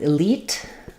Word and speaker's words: elite: So your first sound is I, short. Your second syllable has the E sound. That should be long. So practice it by saying leet, elite, elite.